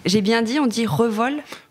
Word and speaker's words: Revol: dit on dit Revol on dit Revol c'est bien ça bravo pas réevol he par que moi j'ai toujours dit Révol hein je sais que certains disent Revol je me l'explique pas vraiment mais de ouais la vraie de proncer c'est Revol juste avant de commencer